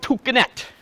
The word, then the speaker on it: toucanette: Emerald toucanette. It's going to be their smallest toucan. And the collared arisori. Read it. It's spelled like arikari, but pronounced arisori.